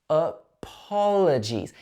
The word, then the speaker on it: apologies: Apologies. In this word, we stress the po syllable.